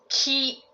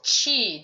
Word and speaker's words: 気: share the Japanese word the energy award Ki if you're familiar with that Reiki healing modality Tai Chi chigon these are the Chinese when you pronounce it as Chi that's reflecting the Chinese modality um and um so